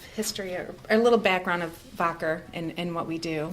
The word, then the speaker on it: Wacker: Alexander voder um which is why we we pronounce it voder but it's sounds like Wacker so we're actually